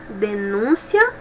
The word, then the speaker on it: denúncia: Outro exemplo, denúncia, substantivo, denuncia, verbo. Denúncia, eu tenho substantivo e observo que a pronúncia é diferente de denuncia, que é verbo.